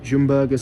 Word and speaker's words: Ljungberg: I mean obviously their first game on the lumber or Jim burgers I'm told it's pronounced in Sweden and I didn't feel it